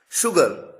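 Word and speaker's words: sugar: फिर भी उच्चारण में स नहीं बल्कि शलगम वाला श होता है। एग्जांपल्स आपके सामने हैं। शुगर ध्यान दीजिए।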